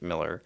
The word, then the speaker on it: Millar: right it's the same alar sounds like you're making fun of the man well people think malar is more uh dignified for some reason I've heard not I I feel like I am intentionally mispronouncing and that's tamaka man and that's only Mark malar and it's only Mark Miller who I think prefers it Miller well since you brought